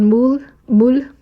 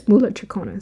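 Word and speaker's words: mūlatrikoṇa: So yeah it's called mool mul. Oh it is moola trona. See I thought I was saying it wrong.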